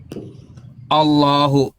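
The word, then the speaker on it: الله: Ini kaidahnya dibaca tebal karena ada ininya Allah taphim dia. Tapi kalunya yang seperti ini illah illah ini tarkik dia tipis gitu cara bacanya. Jadi kosakata Allah itu kalau diawali dengan fathah dan domah dalam bahasa Arab itu dibaca tebal gitu. Tapi kalau diawali dengan kasrah dia tipis bacanya.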